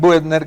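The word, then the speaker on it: Buettner: Dan Buetner, yo lo yo lo pronuncio como si fuera en español. Dan Butner, que es un médico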